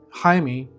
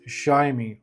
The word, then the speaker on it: Jayme: In Spanish his name would be pronounced Haimey or Haimey but um after doing some research